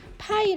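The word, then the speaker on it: π: 하고 이렇게 그리스 혼자입니다 4 이것을 우리 나팔이 라고 읽어요 앞으로는 원 주유를 우리는 파이 라고 하고 요기 5로 이렇게 표시하겠습니다 됐나요 4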